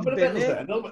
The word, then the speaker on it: בני: כשכתוב בני ישראל, כתוב בני עם יוד, ורוב העולם חושב שצריך לבטא את היוד. האמת שלא מבטאים את היוד, זאת יוד שקטה. צריך להגיד בני...